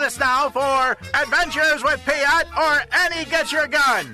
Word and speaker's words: Piotr: Piotr is the Polish pronunciation, the proper way to say it. Piotr, there's a slight trill on the R, but you can say it fast, and you can skip the R.